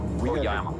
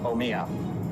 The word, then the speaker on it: Omiya: Oyama. No, Omiya. Oh.